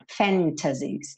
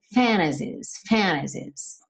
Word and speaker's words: fantasies: What if all these fantasies, não tem problema nenhum se você pronunciar o T, fantasies, mas é comum, muito comum, especialmente no inglês americano, que esse T suma e aí você tem fantasies, tá?